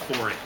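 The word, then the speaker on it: Fore: as and they still exist today as the 4a people it's just spelled f-o-r-e but it's pronounced chlorine okay and tribal folks very very primitive they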